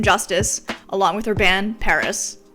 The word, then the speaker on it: PVRIS: In this video, I want to do my girl, Lynn Gunn, some justice, along with her band, PVRIS, and that's spelled with a V.